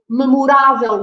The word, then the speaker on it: memorável: And again, the stress is on the accent. So this is memorável. We put an accent on the A.